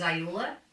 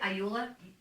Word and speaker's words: Iula: With me today is a good friend of mine, Iula. Do I ever pronounce that right? Iula? Iula or Iula. Oh, If you were in Italy, it would be Iula.